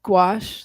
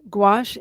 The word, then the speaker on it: gouache: used in similar ways it's spelled g o u a c h e oh wow it's a French word apparently cool I've never heard